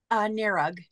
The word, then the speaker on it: Narug: Narug. Narug.